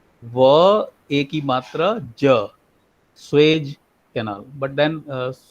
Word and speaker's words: Suez: third one was the Suez Canal, and the fourth one was Bering Not Strait Swiss crossing. Canal. It is not Swiss Canal. It is, sir. What is the right pronunciation? It is Suez.